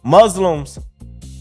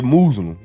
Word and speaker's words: Muslim: Well, they're trying to stop any Muslims entering into this country. Now, I did say Muslim. I said it wrong.